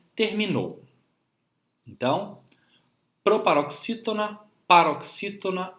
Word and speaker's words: terminou: E o nosso último grupo de palavras, nós temos o grupo das palavras oxítonas, que são aquelas palavras que possuem como sílaba tônica, ou seja, a sílaba que nós pronunciamos com mais força, a última sílaba como em terminou.